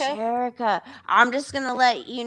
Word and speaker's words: Sheriqa: It's Sheriqa, like Erica. Sheriqa.